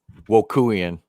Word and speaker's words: Wokuian: It's Wokuian. Wokuian. Okay. Wokuian. Wokuian. Okay, because I like to pronounce people's names right.